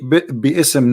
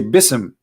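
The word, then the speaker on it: بسم: say you see here you didn't say be ISM no more here they say BISM so it's not an error scribe it's an error in the pronunciation are you getting my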